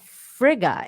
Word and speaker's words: Frigga: because isn't that her name is frail but i heard fraga too so i don't know uh oh frigga is her name okay uh frigga is